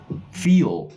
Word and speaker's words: feel: and pronounce the word feel right for example how do you feel today feel double e long v e e feel feel and